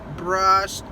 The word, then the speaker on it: brushed: Por exemplo, brush e sh. So, brushed.